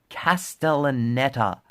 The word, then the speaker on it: Castellaneta: who was fucking voiced by Homer Simpson, Dan Castellaneta. I pronounced it correctly. Dan Castellaneta.